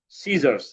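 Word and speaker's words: scissors: যেমন সিজারস দেখ এস এর পরে সি আছে।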